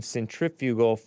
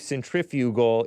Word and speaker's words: centrifugal: the flat earthers explain centrifugal centrifugal force which is which she thinks I believe centrifugal is pronounced centrifugal uh centrifugal force if it's pronounced that way kind of like centrifuge right centrifuge is this thing